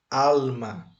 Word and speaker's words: alma: é a sílaba tônica a pronúncia correta em espanhol é alma alma Qual a sílaba tônica é al ou ma